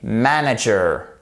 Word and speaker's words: manager: bus driver, I am a manager, accent tonique sur la première syllabe.